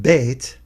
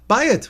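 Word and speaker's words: בית: It's not pronounced Beit, but it does include the letters that Beit is broken up into. Beit, Yud, Taf. Bayit, which means what?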